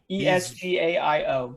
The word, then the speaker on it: Esgaio: Esgaio.